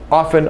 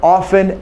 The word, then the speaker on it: often: in the word often often often often okay since I was a little kid I heard the word often and it never had a t- sound only when I went